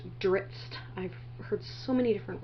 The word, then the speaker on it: Drizzt: I always mispronounce that, and I have people tell me it's Drizzt, Drizzt. I've heard so many different ways, and I've been following the series a long time. I just call him Drizzt in my head.